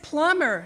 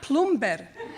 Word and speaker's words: plumber: bah the word is plumber not plumb better the B is silent his reply there's a